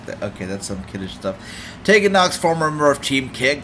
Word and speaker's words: Tegan Nox: Oh, Tegan Nox. I was pronouncing her name wrong all this time.